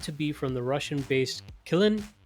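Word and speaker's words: Qilin: be from the Russian-based Kilin and ransomware operation. I think that's how it's pronounced. It's with a Q.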